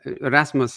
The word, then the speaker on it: Rasmus: and um today uh Rasmus is is that the right pronunciation of your name yeah yeah perfect so uh I just